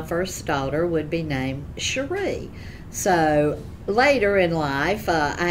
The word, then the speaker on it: Cherie: My name is pronounced Cherie, and it's spelled C-H-E-R-I-E.